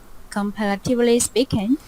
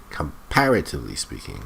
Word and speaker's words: comparatively: Comparatively speaking, Comparatively speaking. The stress is on this syllable here. Comparatively speaking. Not comparatively speaking.